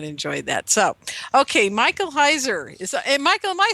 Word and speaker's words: Heiser: Michael Heiser is and Michael, am I saying it right?